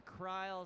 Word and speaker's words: Kryl: Just, the Kryl rhymes with smile is just too good, Jenny, I'm sorry.